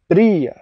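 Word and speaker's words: brèagha: G Bri Bri Bri this e is a little longer that's why there's the little Mark above it little accent mark it means it's a long e it's not Bria it's Bri Bri these accent marks give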